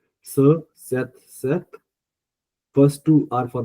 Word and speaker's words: cet: So which is in French it's ce, cet, set. So we pronounce both set, se, te, and se, te, the same manner, but we write it differently.